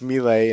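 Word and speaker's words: Mille: lottery i'll strap a richard meal pronounce melee and proper italian on tjv and let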